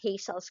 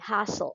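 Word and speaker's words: Hassall: Alam niyo for the longest time I read this at Hazel's corposel but I searched how it should be pronounced. So it should be hassle. Hassle's corposel as in hassle.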